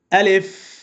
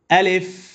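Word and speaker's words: ألف: আলিফ এইযে হরফটা পড়েছি এই হরফটা তাড়াতাড়ি উচ্চারণ হবে আলিফ এবং বাতাস প্রবাহিত থাকবে বাতাস জারি থাকবে দুই টুটের মাঝখান থেকে উচ্চারণটা উচ্চারণটা হবে আলিফ আলিফ এভাবে কিন্তু এই আলিফকে টেনে পড়া যাবে না তাড়াতাড়ি পড়তে হবে আলিফ আলিফ বে বা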